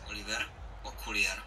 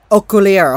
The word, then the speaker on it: Okuliar: Okuliar, and that's how the thing apparently is pronounced. I'll play it for you right here. Oliver Okuliar. Okuliar.